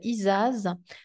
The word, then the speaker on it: Isaz: j'ai tiré c'est celle-ci euh qui se prononce isaz donc c'est la glace